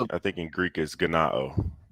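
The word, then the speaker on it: γεννάω: He's pronouncing the J, or no, he's pronouncing the G as a J.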